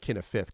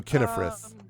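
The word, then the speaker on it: Cynefrith: Um, so not not Kenneaf. Kenneth Frith. Uh, C Y N E F R I T H Kif. I just write all of these phonetically. Okay, so Kifith because English spelling makes no sense.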